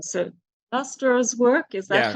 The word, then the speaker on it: Clastres: through, I'm going to say this wrong, so Clastres' work, is that how you say it? Pierre Clastres, Yeah.